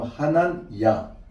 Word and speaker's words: 하난: 여러분 다니엘 그다음에 미사엘 그다음에 하난 하난입니다. 정확한 발음 하난 그다음에 아자르야 이름에 뭐가 들어가요?